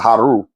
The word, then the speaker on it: Haru: Some people think that is Horus, who is his son, or Haru, which is the real way to say his name.